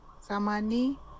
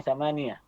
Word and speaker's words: ثمانية: Kalau samani mengucapnya samania ya. Samania. Samania dan enggak usah dibunyikan harokat akhirnya biasanya, enggak usah diun-unkan wahidun misalnya wahid saja.